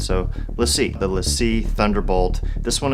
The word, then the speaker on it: LaCie: see Lacey let's see let's just call it let's see I think that's how they pronounce it so let's see let's see Thunderbolt this